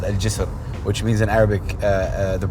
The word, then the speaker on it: Al Jisr: But I wanna make sure I say jizzle right, because if I say that wrong, Al Jisr. How do you spell that? Al J-I-S-R. Al Jisr. Jizr.